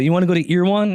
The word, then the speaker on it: Erewhon: Is that what it's called, right? Ear One? Erewhon. I'm not from LA. Yeah. They swear by that place. Earwon. That's how it sounds like to me when